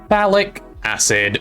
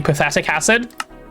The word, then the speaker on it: Phthalic acid: Man, I remember the days back when I used to happily call this thing Pathetic Acid. But then I got taught how to say it properly, and now I'm just sad.